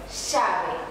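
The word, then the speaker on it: llave: Que se escreve com dois L's, que é com a L, como decimos nós, mas lo vamos a pronunciar igual que a Y. Voy a dizer chave. Isso. Aí tem o mesmo som do Y, mas é um pouquinho mais para o X.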